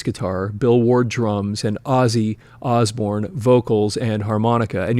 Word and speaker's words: Ozzy: Geezer Butler, bass guitar, Bill Ward, drums, and Ozzy Osbourne, vocals and harmonica. And you'll notice that it's spelled O-S-S-I-E.